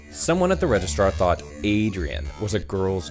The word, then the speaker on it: Adrian: But here in Sweden, Adrian, or Adrian as we pronounce it, is very decidedly, obviously, clearly a man's name.